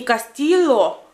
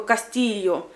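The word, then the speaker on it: Castillo: Когда в испанском языке две «л» пишется, то оно читается как бы, как, знаете, как и кратко. Например, «Кастильо», оно читается не «Кастило», хотя там две буквы «л» стоят, а как бы «Кастильо», «Кастилла», «Кастилья».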